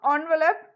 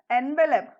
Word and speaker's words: envelope: Children, do you know envelope? Never pronounce this word as envelope. It is not envelope. You have to pronounce it as envelope.